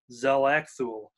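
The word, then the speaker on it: X'lakthu: lead characters which is zelekthu is maybe how you uh pronounce it it's x apostrophe l-a-k-t-h-u-l zel axual is how the pronunciation is written um she's the caseworker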